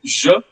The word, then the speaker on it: je: So the first person singular is je. Je. Try to pay attention to the pronunciation. It's not je or je. People at times, pronounce like that. Je or je. It's not like that. It's je. Je.